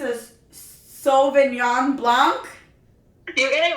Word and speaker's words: Sauvignon Blanc: Not only has Jenny been laughing, but my husband as well, because I'm so bad at pronouncing things. But I believe it's a Sauvignon Blanc.